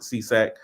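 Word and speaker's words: SESAC: three of them in the US you have seesac which is a newer one that's a SE CAC and they just pronounce it c s s we we just pronounce it cesac I don't know what the acronyms mean um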